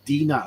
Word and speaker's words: Dinah: Different ways of pronouncing that. Be Dina over here, probably Dinah in America.